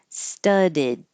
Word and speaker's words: studded: And this one, studded. It'll be an id or an ud, studded.